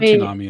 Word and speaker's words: tsunami: might not have had tsunami in Canada yeah Sean might not know what that is Oh I thought you were trying to Tsunami but not realizing that the tea is silent and that's devastating no